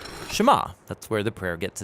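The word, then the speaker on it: שְׁמַע: is hear or listen which in hebrew is pronounced shema that's where the prayer gets its name now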